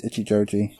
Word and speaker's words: Ichijoji: I'm sure he even says his own name at some point, and it's Ichijoji. Well, Ken got it wrong then.